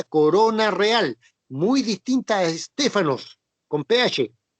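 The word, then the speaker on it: στέφανος: Diadema es una palabra griega, ya, que denota o significa corona real, muy distinta a Estéfanos, con PH. Se escribe Estépanos, con PH. Se pronuncia Estéfano, de ahí donde viene la palabra Estefanía, Di Stéfano, Estéfano, etc.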